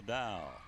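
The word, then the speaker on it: Dau: Serving it for Science Hill's number 5, Issa Dow. Spelling D-A-U, pronouncing D-O-W.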